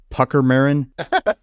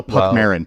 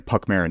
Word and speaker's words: Puckmarin: thing is called a pucker marin oh no Puck Marin Puck Marin not pucker Marin Puck